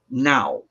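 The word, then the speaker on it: Gná: her handmaiden now okay it's spelled g-n-a with a dash over it but it's pronounced now and now is the carrier messages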